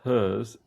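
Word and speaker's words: HIRS: Uh, the Hers Collective, uh, formerly known simply as Plus Hers Plus, pronounced Hers, is an American queer punk musical collective based in Philadelphia.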